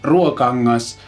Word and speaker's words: Ruokangas: And that is the Ruokangas, yes, that's how you pronounce it in Finnish, Ruokangas Valvebucker guitar, which is basically kind of a tube-driven pickup thing in a guitar.